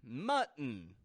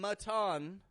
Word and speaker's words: mutton: mutton mutton once again notice I'm not saying maton maton nor am I saying muten muten but rather mut we're using the gladle T in the middle folks the gladle T uhoh mut mutton it's all about stopping that tea and controlling your syllable stress muton so there you